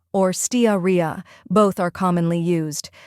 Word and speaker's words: Steatorrhea: the correct pronunciation is staria or staria both are commonly used first we have Ste which sounds like Ste in Steam next uh or a